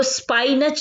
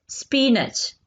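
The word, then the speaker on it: spinach: स्पिनच, इसको स्पाइनच नहीं बोलना, ठीक है, इसकी प्रोनाउंसिएशन क्या होगी? स्पिनच।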